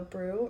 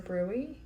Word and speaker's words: BRUE: And it was when my baby had something called a brew or a brewy. I heard it pronounced both ways while I was at the hospital.